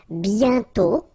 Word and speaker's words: bientôt: And then bientôt. Okay, remember you put this accent circumflex but you don't write it. You write it but you don't pronounce it. And then the final T is not pronounced.